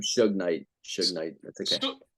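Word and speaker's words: Suge Knight: his name Su Knight Su Knight that's okay S Knight S Knight like sugar like sug KN oh yes yes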